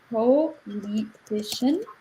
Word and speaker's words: politician: So the way politician is spelled, it's like this: politician, but you break it down like poly, T, shin, and CIN is a bit like shan. So politician.